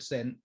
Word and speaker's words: Sen: hold on zen mango zen rhymes with sen sen sen your last name like i got it